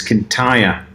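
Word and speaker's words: Kintyre: it's it's actually take if we if we want to get really picky and technically is can tire uh some marks from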